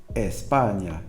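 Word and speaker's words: España: as quietly as possible you'll notice I'm saying I am from Spain instead of Espana in which the air would be clear and obvious right um I I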